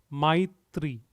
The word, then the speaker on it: Maitri: Maitri. Maitri. Maitri. So M-A-I, my. It's like M-Y, my.